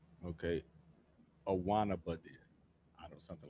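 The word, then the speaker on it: Guaynabo: You don't you don't pronounce the G. Okay. A wannaba.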